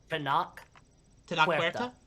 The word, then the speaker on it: Tenoch Huerta: I don't know how to pronounce this actor's name. Tenoch Huerta. What's that? Tenoch Huerta?